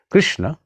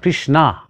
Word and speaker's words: Krishna: expressions yes of course krishna is right but not krishna krishna is the name of a woman it is the name of draupadi one of the great characters of mahabharata the name of krishna is krishna not krishna so if you are